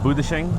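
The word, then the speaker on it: 不得行: Okay, so here's how you say no in Chongqing dialect. Be like, no. No. I don't know how to say it. 不得行. What is that? Budashing? 不得行, yeah.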